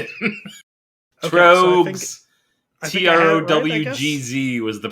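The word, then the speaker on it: Tröegs: Trowgz was the pronunciation.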